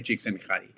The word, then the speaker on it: Csikszentmihalyi: of this author, Mihai Csikszentmihalyi. I can pronounce his name because he's Hungarian, and I have Hungarian ancestry, so I can say Csikszentmihalyi.